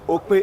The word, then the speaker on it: Okpe: It's called Okpe. In terms of pronunciation, there's an hyphen in between the O and the K.